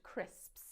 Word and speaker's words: crisps: you that one uh crisps is a notoriously difficult word for learners of english it's the s sound at the end crisps you'll find a lot of people mispronouncing let's just say you